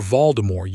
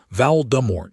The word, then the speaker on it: Voldemort: That's your Voldemort. S. The captain's pronunciation was not quite right. Vow dumbort.